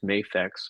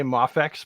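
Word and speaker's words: Mafex: it up there with mayfax mafx whatever but yeah remember the E makes the a say its name people will say mafax but it should be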